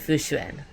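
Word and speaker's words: Fu Xuan: Fushuin. It's much faster and much easier even though it is more of the English pronunciation than the Mandarin pronunciation.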